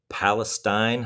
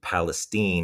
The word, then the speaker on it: Palestine: I it was the headband director at what I thought was Palestine High School. It was obviously Palestine is how you say it, but I didn't know that.